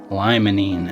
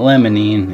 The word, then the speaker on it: limonene: It's spelled lemonine, right? L-E-M-O-N-E-N. But it's limonene. It's not lemonine, it's limonene.